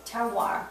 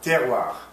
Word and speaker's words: terroir: And so how you would pronounce it is terroir. Terroir.